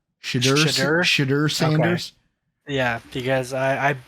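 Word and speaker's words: Shedeur: Shadur Sanders. Okay. Yeah, because I've been butchering that for the last however long. So Shadur.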